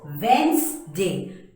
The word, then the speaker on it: Wednesday: thing the way this D has to be pronounced is when ste yes not read nesting it is Wednesday w e and z de but very deep